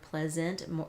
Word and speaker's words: pleasant: Now, you may pronounce this word pleasant. It sounds more like an I sound, pleasant. I know I do. So you'll want to make sure that you pronounce this as an A sound while you're practicing the words so that you don't accidentally put an I or an E in here.